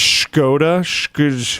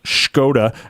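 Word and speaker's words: Škoda: Pretty sure it's pronounced Skoda.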